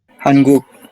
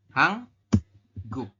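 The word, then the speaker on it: 한국: eh secara apa namanya secara tulisan kan kita membacanya adalah hanguk Iya G seperti ini ya hanguk kan cuman dalam ee aturan baca yang nomor 4 ini maka ini berubah bunyi menjadi Nien berubah bunyi menjadi Eng maka dibacanya adalah hang hang guk seperti ini ya hangguk seperti itu ada ada bedanya enggak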